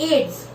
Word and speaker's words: AIDS: लेकिन एड्स को कभी अपन ऐसे नहीं बोलते AIDS, एड्स उसको AIDS हुआ है ना, अपन उसको प्रोनाउंस ही एड्स करते हैं।